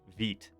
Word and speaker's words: Vite: Or sorry, not Vite. I'm so bad about that. Vite is how it's pronounced. Hey, Hannah. How's it going? Welcome in. So Vite is a new tool that is co-developed by